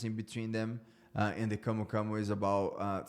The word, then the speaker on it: camu camu: in Brazil, your native country, which is called camu camu. Am I pronouncing that right? Yes. Camu camu, or there's a scientific name for camu camu as well that I don't remember right now.